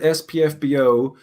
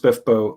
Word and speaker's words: SPFBO: um i'm justin lee anderson um i i pronounced it spf bo until i met laura hughes and she told me it was pronounced spiffbo and so now i pronounce it smith book